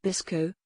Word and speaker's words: BSCCO: strontium calcium copper oxide or bscco pronounced bisco is a family of